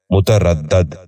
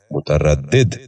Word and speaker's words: متردد: سبق شروع کرتے ہیں۔ پہلا لفظ ہے متردد۔ یہ غلط تلفظ ہے، درست تلفظ ہے متردد۔ دوبارہ سنیے، متردد۔ بچوں